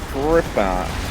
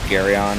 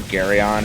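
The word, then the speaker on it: Geryon: So this is Griffon. Actually, I don't think that's how you pronounce it. It's like Garyon or something like that. Whatever. It's something that starts with a It's G. not Griffin.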